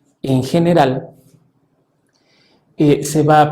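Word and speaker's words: général: Entonces, esta es la particularidad que tiene, por ejemplo, está la palabra general.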